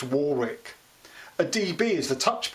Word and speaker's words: Warwick: Pronounced Warwick.